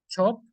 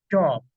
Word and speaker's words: shop: Is not chop. Chop. No está ahí una CH. Este es chop. Ch. Está una SH. Sh. Shop.